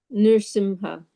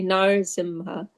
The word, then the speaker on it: Nrsimha: Yeah, actually the how it is written is Nrisim R with a dot underneath. That's Yeah. so Nrisimha, Nrisimha. Nrsimha. Okay. Then some people say Narasimha. Yeah, Narasimha. Yeah, they say like that. But it is written like Nrsimha, like that.